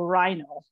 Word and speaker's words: rhino: rhinoceros is the um RH like pronounced just like an R so rhino can you pronounce it